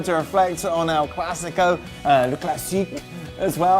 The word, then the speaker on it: Le Classique: Just a reminder, we will be back on your screens tomorrow to reflect on El Clasico, Le Classique as well. How do you pronounce that, Jack? Le Classique.